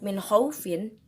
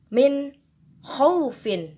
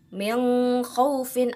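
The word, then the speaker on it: مِنْ خَوْفٍ: dengan huruf Kho nah makna cara bacanya pun harus dijelaskan Minho wfin bukan meong huffin atau me how fine Bukan tapi Minho fine itu dia contoh pertama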